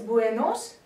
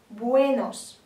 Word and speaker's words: buenos: Для того, чтобы сделать четкую разницу между о и а в данных словах, не нужно переносить туда ударение. Некоторые стараются сказать ой, получается buenos. Нет, просто после ударного э, буэ, не закрываем рот, и получится buenos.